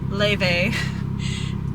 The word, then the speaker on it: Laufey: I now know how to pronounce it. It is indeed Le.